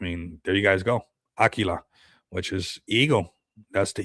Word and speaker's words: Aquila: Which is cool how it's spelled with a Q here, but um it is like almost how we say it in Spanish, Aguila. You know, we say it with a G, but I mean, there you guys go.